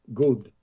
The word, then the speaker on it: goud: Many Creole speakers call gordes good, rhyming with the English word mood, good, mood.